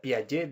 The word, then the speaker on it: Piaget: Si yo quisiera que dijera Piaget y cargara la voz en la E, entonces tendría que entrar y poner un acento, modificar la pronunciación.